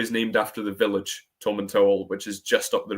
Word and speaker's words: Tomintoul: There's been a bit of confusion before, but it does say on the back of the tin that it's pronounced Tom and Towel. H the distillery is named after the village Tom and Towel, which is just up the road.